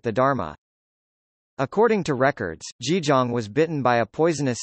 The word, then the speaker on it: Jijang: Kṣitigarbha, pronounced Jijong in Korean.